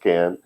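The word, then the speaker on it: כֵּן: first this is can it's not like Barbie and Ken but it is pronounced can which means thus or so this is aa saw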